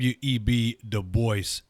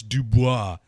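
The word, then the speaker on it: Du Bois: atten mention to the fact that um web de Boyce which I am I yes I am pronouncing that properly some people like no it's it's dubo it's dubo because the man himself said that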